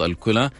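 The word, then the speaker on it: الكُلى: حيكون عن امراض الكلى قلت لي لا يعني الصحيح انه امراض الكلى فجميل انه احنا نعرف ايش النطق الصحيح ويعني في اشخاص مثلا يعني بنسمع بيقولوا الكلى فالروح نقول له لا قل الكلى يعني بنعطيه الاجابه الخطا للاسف فلا الاجابه الصحيحه لكلمه الكلى هي الكلى يعني بضمها يعني ممتاز جدا طيب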